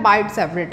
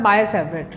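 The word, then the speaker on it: Biot–Savart: ही important topic है बाइट सेवरेट लॉ। वैसे बाइट बोलते हो टी साइलेंट होता है, लेकिन हम शुरू से यही बोलते आ रहे हैं तो यही बोल रहे हैं, वैसे होता है बाय सेवरेट।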